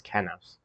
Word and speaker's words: Kenos: Even their faces and wings and hair Also, it's not Kinos, it's Kenos.